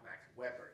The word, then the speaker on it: Max Weber: Max Weber, he pronounced it, or Ben Shahn.